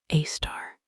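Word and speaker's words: Sagittarius A*: This is Sagittarius A, pronounced A star, the supermassive black hole that anchors our entire galaxy.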